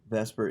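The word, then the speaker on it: VSEPR: need to have watched the one about polarity vesper is pronounced is vscpr now uh we're going to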